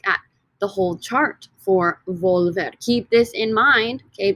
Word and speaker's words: volver: infinitive verb is volver volver this o in the stem right volver two syllables when we take away